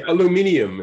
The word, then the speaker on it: aluminium: And they say aluminium instead of aluminum.